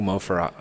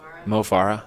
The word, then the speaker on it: Mo Farah: what's happening oh yeah do you know who mo ferrata for our how do you say that name no Mo Farah don't like the best